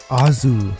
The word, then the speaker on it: Oz: This is simply because his name in Japanese is pronounced the exact same as Oz in The Wizard of Oz. In Japanese, it is pronounced Azu.